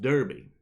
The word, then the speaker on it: Derbe: Derbe was pronounced Derby.